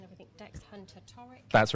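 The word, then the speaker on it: Hunter-Torricke: you so just to check your surname um pronunciation everything dex hunter toric that's right okay and we're gonna i'm going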